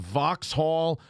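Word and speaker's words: Vauxhall: listening to this place it's called Vox Hall podcast Studio at Vox Hall Comedy Club but they spell it vux okay so I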